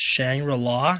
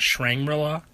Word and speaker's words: Shangri-La: welcome to shrinky law it's pronounced shangri-la not shrink brilla this map is of